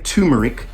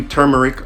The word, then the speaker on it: turmeric: every night before bed some people say tumeric but i don't know it's spelt it's spelt t-u-r tur so i do turmeric i do one capsule